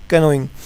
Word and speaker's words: canoeing: इसको कुछ बच्चे नोइंग भी बोलते हैं, CA को साइलेंट भी कर देते हैं, लेकिन इसका रियल जो डिक्शनरी मीनिंग बता रही है कैनोइंग।